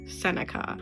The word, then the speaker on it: Senica: My last name is just the P is silent Senica.